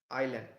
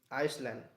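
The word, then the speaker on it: island: দা big half moon আইল্যান্ড আইল্যান্ড বানানটা হবে আই এস এল এনডি আই এস এল এ এনডি আইসল্যান্ড আইসল্যান্ড এটা বলবে না ওটা হবে আইল্যান্ড এস এর উচ্চারণটা হবে না আইল্যান্ড বেশ।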